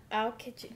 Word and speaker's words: Aokiji: Aokiji.